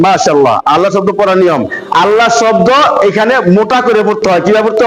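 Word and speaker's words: الله: শব্দ করার নিয়ম মাশাল্লাহ আল্লাহ শব্দ পড়ার নিয়ম আল্লাহ শব্দ এখানে মোটা করে পড়তে হয় কিভাবে পড়তে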